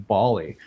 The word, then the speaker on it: Bali: The Australians call it Bali, but we're calling it Bali. The Balinese call it Bali, so I call it Bali.